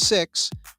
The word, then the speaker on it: Sikhs: Pakistanis and Sikhs talking Sikhs. I said it right. They call themselves Sikhs.